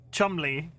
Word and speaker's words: Cholmondeley: Pronounce Cholmondeley? Cholmondeley? Diving deep into the... I'm just gonna start... I can't... TC... Chumley.